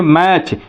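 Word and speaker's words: match: जब किसी जो है वर्ड के अंत में जो है TEN आए या TCH आए, तो उस टी का जो है प्रोनाउंसिएशन हम नहीं करते हैं।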